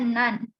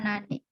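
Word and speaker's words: 何 (なん): Nah berarti ini dibacanya nan, bukan nani.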